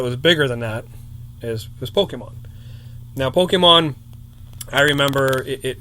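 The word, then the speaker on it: Pokémon: it was like, first people didn't know how to say it. You know, how do you say this? You know, Pokemon, Pokemons. You know, like people still call it I know. Pokemon. It's Pokemon. You know if they're an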